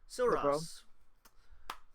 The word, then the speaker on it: Silros: So, is it pronounced Silros? Silros. Yeah. All right. So, separate you two. So it's Silros.